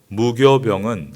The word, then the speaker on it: 무교병: 넣지 않은 것에 있습니다 무교 병은 한자어로 서 없을 무 에 효소 효의 떡 병 짜 입니다 그런데 옛날에 효를 교라고 발음을 했습니다 그래서 성경의 무교 병 이라고 되어 있습니다 효소 즉 누룩을 없앤